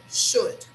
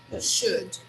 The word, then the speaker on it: should: So should, should, yes, should, should, okay? So you should visit Miami. It's an exciting city. So try to resist the temptation of pronouncing letter O. We don't pronounce that letter either.